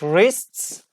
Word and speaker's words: wrists: It is wrists.